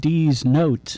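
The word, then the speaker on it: Deez Notes: And then he has a band with his son called D's Notes. Yeah. That's awesome. D-E-E-Z, I believe they spell it.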